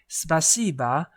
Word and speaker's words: спасибо: So, spaca spacing is Oh, but the pronunciation is ah spac beans. So, Okay, together everyone. Let's say spasiba to teacherini.